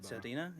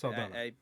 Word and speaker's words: Saldana: and I think Zoe Salda, Salda, Saldina, is that how you pronounce it? Saldana.